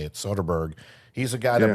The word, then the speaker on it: Soderbergh: I believe that's how you say it, Soderbergh.